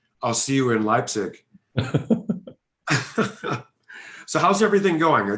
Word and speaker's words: Leipzig: i pronounced leipzig properly lapses uh well people that live here say like right but it's officially it's leipzig but you can say